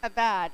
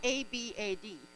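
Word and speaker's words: עבד: the lord with gladness there's a word pronounced abad in hebrew it is spelled a b a d a bad pronounced a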